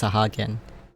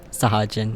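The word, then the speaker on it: Sahagin: got to remember that it's pronounced sahagan think I was once I think I once said it as sjin or maybe I didn't but I don't know I think I feel like I would have pronounced as sah sahajan instead of sahagan but anyway before discussing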